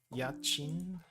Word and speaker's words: 家賃: 家賃払え家賃払え I think there's a wait, is it yachi or yachin? I can't tell. 家賃払え It's like I was trying to figure out what rent is. Go to Google for pronunciation. Yachin. Translate. Translate Google. And for some reason, Google thinks what I typed in was Greek. Oh, it is Yachin.